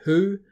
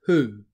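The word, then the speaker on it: hū: Maori word here being who rhymes with shoe ok so the translation of shoe into Maori is who and again it's got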